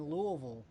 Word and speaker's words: Louisville: of you guys in louisville um i think that's the right way to say it too you gotta you gotta swallow when you're saying it all right we're gonna